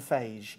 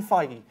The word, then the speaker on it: Feige: this this is see it looks like it should be Kevin fagee the way his name is spelled I think it's fagee with beige no it's Kevin feig well that's the way